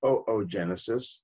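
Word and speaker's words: oogenesis: what's called looks like boo Genesis but it's pronounced oh oh genesis this is egg development so these hormones stimulate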